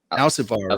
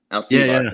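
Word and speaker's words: Alcívar: So Jordi, how do you pronounce his last name? Alcivar, right? Alcivar. Yeah. So the accent is on the I there.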